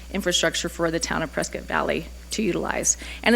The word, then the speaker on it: Prescott Valley: than just the fleet frisky valley man brisket valley sorry am i saying it right is it prescott valley yeah we don't care